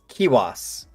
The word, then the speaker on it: Kiuas: Can you tell me again, Colin, how to pronounce it? Oh, yeah. Kiwas.